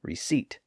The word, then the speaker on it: receipt: those words now had silent letters that just stuck out like a sore thumb you might remember that that's how we got the b in doubt and debt and the p in receipt well as it turns out